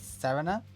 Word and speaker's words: Serena: In the anime, they pronounce it in the Japanese as Sarina.